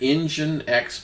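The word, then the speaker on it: nginx: other one is called engine X this is kind of weird engine X but it's spelled Ng I NX okay engine X I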